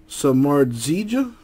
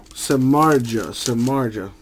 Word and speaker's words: Samardzija: Nice three-color patch on there for the Giants, Jeff Samardzija, hope I pronounced that right.